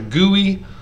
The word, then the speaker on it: GUI: referred to as a gui you know almost like gooey butter cake but but spelt g-u-i pronounced gui um graphical you know